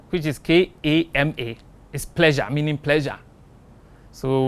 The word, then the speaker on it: Kama: k a r m a people know sometime pronounce it as Kama in Sanskrit we have Karma and we have Kama Kama which is K A M A is pleasure meaning pleasure so we have Kamas